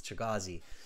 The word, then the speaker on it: Chigazi: Chigazi, I think, is the better pronunciation. Welcome. It's great to have you in our group of members. Coming up, everybody, in Chigazi says, yes, it's Chigazi.